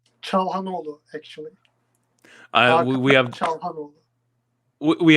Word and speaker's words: Çalhanoğlu: How do you pronounce Hakan's last name? Çalhanoğlu, actually.